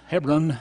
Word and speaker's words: Hebron: okay we're going to learn about heparin or heparin see h-e-b ' rwn heparin we called it hebron here in east tennessee and they call it here on heparin over there in israel heparin is one of